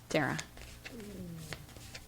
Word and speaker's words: Dara: I think I pronounced it both ways last week, but I think it is Dara. Dara.